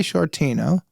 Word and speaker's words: Sciortino: I know, but I was nervous cuz I've always said it's I always do the SC, so the shortino seems insane to me.